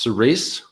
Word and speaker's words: Cirice: All right, Cerise. Yeah, no, I've heard them. I've heard one of the ghouls, I think it was, discuss the pronunciation of this. It's intended to be pronounced Cerise, and that's how Colbert pronounces it when he's